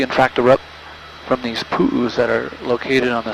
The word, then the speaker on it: pu'u: In Hawaii we call them pu'us. And you spell that P-U, and then the Hawaiian apostrophe, which is called an okina, and then another U.